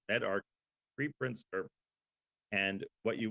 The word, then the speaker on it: medRxiv: Med is pronounced MedArchive, preprint server.